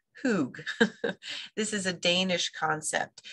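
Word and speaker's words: hygge: it it looks like hide but it's actually pronounced hoog this is a Danish concept and it has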